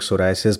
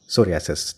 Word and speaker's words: सोरियासिस: लिया है doctor Gupta, सोरियासिस, जिसको कुछ लोग सोराइसिस भी बोलते हैं, अलग अलग शायद प्रोनाउंसिएशन है, वो आप ज़्यादा बेहतर बताएंगी। मैं क्या बोलूँ, सोराइसिस या सोरियासिस? सोरियासिस, ठीक।